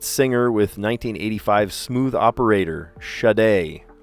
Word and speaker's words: Sade: One named hit singer with 1985 smooth operator, Shade, and it's spelled Sade, but she pronounces it shade.